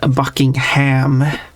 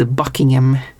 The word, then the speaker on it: Buckingham: It's not Buckingham, it's Buckingham and stuff like that.